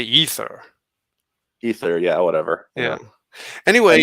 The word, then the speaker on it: aether: you as well but no one says ather it's it's spelled Aether but usually people say ether ether yeah whatever yeah